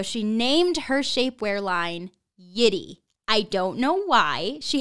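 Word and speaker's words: Yitty: a podcast called yiddi it is spelled the exact same way y-i-t-t-y it is all caps y-i-t-t-y and it's pronounced the same yeti i don't know why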